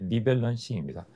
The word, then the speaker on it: 리밸런싱: 3개월이나 6개월에 한 번 정도 포트폴리오를 점검하고 비중이 커진 자산은 줄이고 낮은 자산은 보충하는 방식인데 두 번째 성기만 리벌런싱입니다. 리벌런싱 밸런싱네 리밸런싱입니다.